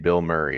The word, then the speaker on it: Bilmuri: It's a dude who goes by the name Bill Murray. It's spelled Bilmuri.